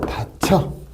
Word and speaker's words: 다쳐: 그러니까 얘 발음은 단모음으로 다쳐.